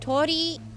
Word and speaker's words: Torii: Torii, you pronounce the second I as well.